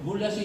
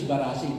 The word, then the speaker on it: Barasi: Now, this is a mispronunciation. Bulasi is Barasi. Bulig is Butig.